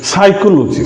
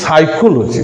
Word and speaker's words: psychology: It means just for example what we have taken that is psychology psycho not physiology and here we find because P letter P is not pronounced here this psychology psychology tsunami T is